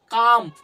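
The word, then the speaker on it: calm: তাহলে আমরা এখানে এলটাকে উচ্চারণ করবো না। তাহলে সি এল এম কি হবে? কাম।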